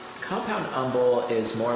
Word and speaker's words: umbel: Now, haven't you told me before that they're compound umbrels? Compound umbel is more like a I didn't.